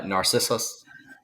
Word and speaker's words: Narcissus: cool um the title I got corrected by my girlfriend that I was saying it wrong so can I hear you say the title uh Narcissus okay cool I was saying wrong I was emphasizing the wrong thing so um what uh